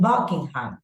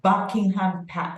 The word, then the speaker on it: Buckingham: hear it Buckingham Palace okay so Helen in Buckingham which one is the syllable that has the stress but correct Buckingham AE what about the next one correct it's